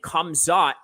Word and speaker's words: Khamzat: No, he's not, but interesting question because Hamzah and Khamzat are actually the same names, except that Khamzat is just the Chechnyan Russian pronunciation of Hamzah, right?